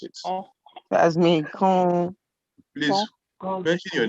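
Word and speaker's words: kɔn: The word between the K and the N is very good. It's O. So yes, I heard someone pronounce it. Oh. That's me. Con.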